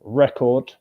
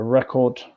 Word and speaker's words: record: For example, record. I made a record, which you listen to noun syllable one stress. I record my voice. Syllable two stress verb.